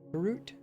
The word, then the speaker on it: Groot: one fantasy movie series his name is Groot right Groot and it rhymes with root right groot root So, and he's like a root creature.